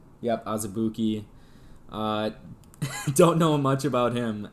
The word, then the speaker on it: Azubuike: Yep, Azubuike.